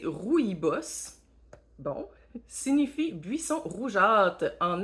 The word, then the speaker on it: rooibos: de plantes 15 sachets rooibos prononcé rouille boss bon signifie buisson rougeâtre